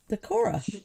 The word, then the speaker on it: Decorah: Decorah. That's actually exact exactly how you pronounce it. Decorah.